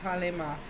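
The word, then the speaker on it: Kali Ma: Hindu goddess Kale Ma, pronounced Kale Ma, is a fierce powerhouse of a creative feminine life force, or Shakti energy, the ultimate spiritual transformer.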